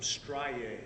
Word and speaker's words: striae: And I note from your report that you noticed some striae. Is that a correct pronunciation?